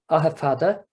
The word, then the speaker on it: Aughafoda: Ahafada, and the spelling here, Aughafoda, it's pretty much, it's a very, very close approximation of how that name would be pronounced in Irish.